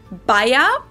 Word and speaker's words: Bayer: Now that was the English pronunciation, aspirin. But the correct German pronunciation would actually be Bayer, and the medicine is called Aspirin in German. Aspirin.